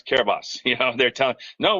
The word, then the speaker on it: Kiribati: And they say he's pronouncing it wrong. It's Kiribati.